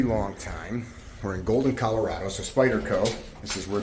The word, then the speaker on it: Colorado: We're in Golden, Colorado. That's how they say it here. Colorado. You coming?